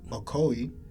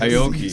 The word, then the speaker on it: Aoki: press release that came out from DJ Steve Okoye. That's how you say his name? I mean, I guess. Bro, don't call me racist again. Steve- Aoki.